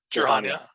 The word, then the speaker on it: Jir'Haniya: Jir'Haniya.